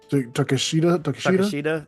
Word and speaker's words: Takeshita: Will Ospreay debuts, has a match against Takeshita. Takeshita. Yeah. It's pronounced Takeshita.